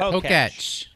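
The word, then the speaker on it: Pokétch: How do you say it? Poketch, Poketch. That's a bad Poketch. name. like Etch a Yeah, Sketch. it's like, yeah. The Poketch.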